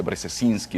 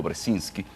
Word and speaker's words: Brzezinski: tiene muchísimas consonantes y difícil de difícil de pronunciar gente dice brzezinski o brzezinski brzezinski que le pregunta a alguien que porque usted